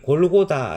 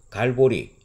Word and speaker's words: 골고다: 도착 했음을 알려주고 있습니다 이곡 이름을 골고다 라고 부르는 것은 바람 어를 헬라어로 음녀 캐서 불렀을 때 발음입니다 라티노 는 갈고리 라고 부르게 되는 것이지요 그래서 찬송가 가사의 보면